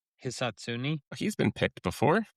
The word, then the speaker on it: Hisatsune: Hisatsune.